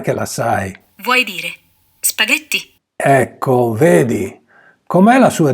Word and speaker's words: spaghetti: Vuoi dire spaghetti? Ecco, vedi, com'è la sua divisione in sillabe? Spaghetti. La G è pronunciata G perché c'è l'H fra lei e la E.